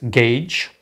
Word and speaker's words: gauge: Portanto, esta delta-t, também chamada de calibre, que em inglês se escreve assim e pronuncia-se gauge, permite adaptar a partição à função f para melhor calcular o integral.